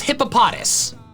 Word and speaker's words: Hippopotas: This hippo Pokemon's name is hippopotamus with the M and U removed. Hippopotamus, hippopotas. It's that simple. Yet despite that, the official pronunciation decides to do gymnastics with emphasis and call it hippopotas.